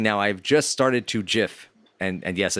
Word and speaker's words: GIF: And I pronounce it GIF because it has a fucking G in it, to quote Eddie.